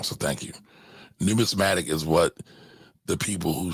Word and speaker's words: numismatic: i always say it wrong so thank you numismatic is what the people who study or the